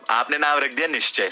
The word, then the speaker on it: निश्चय: पहले तो लोगों को निश्चय ही नहीं बोलना आता, उसमें भी आपने स्पेलिंग में छेड़खानी कर दी। अब लोग भाई कोई नैन्सी बोल रहा है, मेरे कॉलेज का प्रोफेसर मेरे को नैन्सी रीड करता था, निश्चय से नैन्सी।